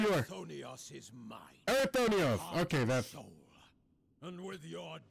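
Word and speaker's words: Erichthonios: Erythonios! Okay, that's... And with your death, none will be left to stop me. Erythonios. Okay, that's how you pronounce his name.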